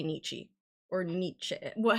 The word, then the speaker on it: Nietzsche: last name so it's Nietzsche that's what Google says and it's the American pronunciation Nietzsche Nietzsche okay Big Bang